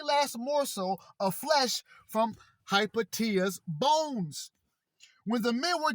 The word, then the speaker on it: Hypatia: Hypatia, correctly pronounced Hypatia, Englished Hypatia or Hypatia, was the daughter of the mathematician Theon of Alexandria.